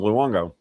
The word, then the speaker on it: Luongo: Just the way it's spelled, Luongo.